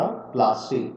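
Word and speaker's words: Plassey: ठीक है, तो पलाश के जगह पर नाम पड़ा प्लासी, पलाशी। और ब्रिटिशर्स कुड नॉट प्रोनाउंस, सो इसका नाम रखा गया प्लासे।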